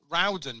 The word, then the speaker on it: Rowden: I should be pronouncing her surname Rowden, but I said, well, down here in Dorset, it's far posher. It's definitely Roden. It's Oh dear, poor.